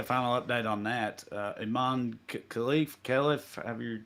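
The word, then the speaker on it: Khelif: Iman Khalif, however you say her name. I think it's Halif, but yeah, I think K is silent.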